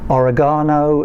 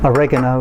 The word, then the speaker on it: oregano: salt this is dried here we go with the pronunciation oregano if you're from Britain oregano if you're in the states and elsewhere this is what's going